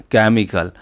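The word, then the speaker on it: chemical: Word ऐसा है जिसमें केमिकल, तो सी एच जो है यहाँ पर चैक यानी कि च का उच्चारण दे रहा है बाकी तीनों में, और यहाँ पर दे रहा है का।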